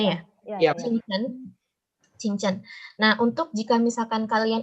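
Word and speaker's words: 清真: Benar ya Kak Yolan ya bacanya ya? Iya. Qingchen.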